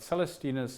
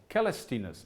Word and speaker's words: Caelestinus: not know this but Celestinus or or Calstinus I accept these two pronunciations depending on the kind of Latin that you want to stick to either it's the classic Latin then it's calestinas and if you have